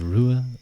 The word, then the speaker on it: Ruadh: Name pronunciation. Sure. My name is Rua.